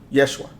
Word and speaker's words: Yeshua: name of Jesus and Jesus is not how it's pronounced I don't know if people know that or people really studied that there's no letter J in the Hebrew language J does not exist Yeshua that's the name um and and just